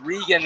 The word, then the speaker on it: Reagan: rean into the Zone spell re Reagan pronounced rean and then play back